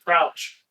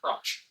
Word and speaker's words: Crouch: Crouch. Hey, it's pronounced crotch. It's Crouch. Cut out.